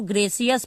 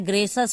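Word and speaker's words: gracious: पढ़ेंगे लेकिन यहां पे आपको देखने में लग रहा होगा कि इसको ग्रेसियस पढ़ना है लेकिन ग्रेसियस नहीं पढ़ना है ग्रेश अस पढ़ना है ठीक है ग्रेश अस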